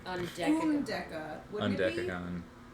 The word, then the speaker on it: Undecagon: Un as in under, de like duh, unducka.